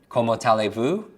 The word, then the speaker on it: Comment allez-vous: Comment allez-vous? Now when I hear that, I hear come on to this alley and see this view.